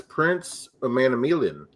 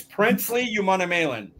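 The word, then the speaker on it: Princely Umanmielen: Last week, Mike, I asked you to look at edge from Ole Miss, Prince Umanamielen. I'm pretty sure I butchered that, but Umanamielen. Umanamielen, okay. It's Princely Umanamielen. He's from he's an edge from Ole Miss, senior, 6'4", 255.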